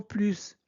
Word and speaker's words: plus: Quand plus signifie davantage, et bien on prononce le S.